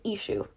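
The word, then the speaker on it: Exu: His name is Ishue or I've never heard of Ishu. So, it's typically spelled E X U or E S H U.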